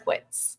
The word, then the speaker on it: Drinkwitz: he say that how you say it drink drinkwitz you were right um there's a first um